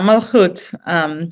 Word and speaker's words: Malachot: Hadar, but looking beyond my pronunciation there, it's Malachot, or how is that word pronounced? Yeah, Malchut.